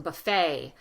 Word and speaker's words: buffet: buffet, ballet, filet, words, French words that end in the ET. We keep the French pronunciation, although we use our long, wavy American vowels, but we don't pronounce it as a T, we pronounce it as an A.